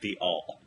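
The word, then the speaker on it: The Awl: I'm a senior reporter on matters cultural for Newsweek, and I also write sometimes for Corey and his site, pronounced The All.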